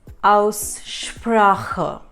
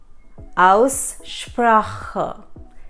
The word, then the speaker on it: Aussprache: Also, pronunciation in German is Aussprache. Aussprache.